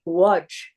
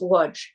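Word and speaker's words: Łódź: in a village called Wajj or it looks like L O DZ but with some uh accent so it's pronounced Wajj.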